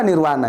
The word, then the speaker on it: Nirvana: Nirvana itu apa kan tulisannya pakai v Nirvana tapi kita pakai W bacanya tahu nggak apa Nirwana itu Nirwana itu propernim